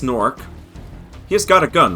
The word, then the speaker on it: Gnorc: go back to the norc Nexus and they really committed to putting a silent g at the beginnings of all these words but yes so now